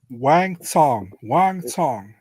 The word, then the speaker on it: Wang Tong: So we got Wang Tong taking on Bruna, Brazil, and I think that is the right pronunciation, right, Marcel? Wang Tong.